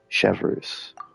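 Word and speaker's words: Chevreuse: So, Chevres, why did you take us here? Chevres. That's how you Affirmative.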